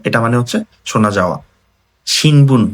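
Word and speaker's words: 新聞: শিনবুন বা পত্রিকা, পত্রিকার যে কাঞ্জি আছে শিনবুন, এটা কিন্তু অনেক ইম্পর্টেন্ট।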